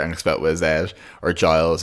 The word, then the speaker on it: Giles: expel twith at or Giles it's like a lines of miles because there's all these